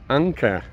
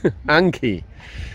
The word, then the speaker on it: Anki: The other van belongs to my Swedish friend, Anka. Anki, förlåt. Nej, I just said her name wrong. Anki.